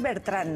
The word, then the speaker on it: Bertrán: Beltrán de la película es bertrán no es Beltrán me confundido de la